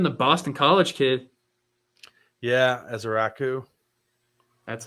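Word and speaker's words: Ezeiruaku: Yeah, Ezeraku. That's how you pronounce it.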